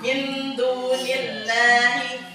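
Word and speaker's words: من دون الله: Tapi kalau seperti di ayat ini dia sebelum kalimat Allah itu berharokat kasroh. Jadi kita baca tarkik atau tipis. Kita bacanya min dunillahi.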